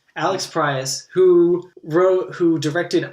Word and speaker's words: Proyas: Yeah, it was directed by and of course we literally looked up the name to pronounce it before, and I'm gonna forget it. Alex Proyas. Alex Proyas, who directed I, Robot and Gods of Egypt.